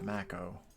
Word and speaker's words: Mako: And I kept calling the Mako there, even though it's pronounced Mako. And then here is pronounced the Mako, even though they're spelled the same.